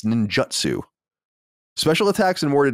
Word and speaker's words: Ninjutsu: with n Ninjutsu because I always say ninjitsu but it's Ninjutsu special attacks and War